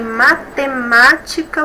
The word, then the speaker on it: matemática: Matemática. Temos 5 sílabas, a antepenúltima aqui que é a mais forte.